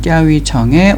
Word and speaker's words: 钓鱼城: 오늘은 중경시 합천구에 위치한 띠아위청에 왔습니다. 우리나라 말로는 조호성이라고 발음되는 이곳은 역사적으로 꽤 중요한 의미를 갖고 있는 곳입니다.